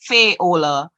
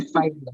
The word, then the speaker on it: Fayola: You did pronounce it correctly. It is Fayola. The English would call it Fayola, but it's actually Fayola.